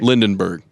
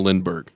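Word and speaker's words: Lindbergh: mispronounced his name mat what did I say lindenberg instead of Lindberg oh Lindberg yeah I'm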